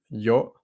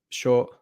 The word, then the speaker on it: yo: For example, it starts with the word yo, as in I, can be pronounced yo, sho, depending on where the person's from.